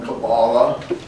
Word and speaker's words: Kabbalah: They often are interested in what is now popularly called Kabbalah, pronounced by some Kabbalah, but